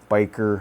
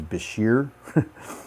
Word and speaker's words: Bichir: By the way, Bichir, Biker, however you want to pronounce it. Kind of had a funny kind of online conversation with someone, and yes, I think the correct way to pronounce it, if I looked it up right, is Bichir. I've heard people call them Bichers or Bikers.